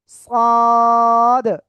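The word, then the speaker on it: صاد: সাদ। মোটা আওয়াজে আমরা এই অক্ষরটা উচ্চারণ করব।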